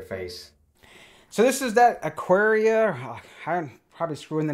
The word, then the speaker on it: Aqara: So this is that Aqara. I'm probably screwing the name up always. But hey, it just sounds like aquarium to me. It's kind of the same, so we're just going to call it Aqara.